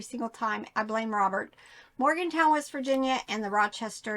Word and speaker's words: Morgantown: up at um the Goodwill bins either in Morganton West Virginia but a lot of it Morgantown I say it wrong every single time I blame Robert Morgantown West Virginia and the Rochester New York bins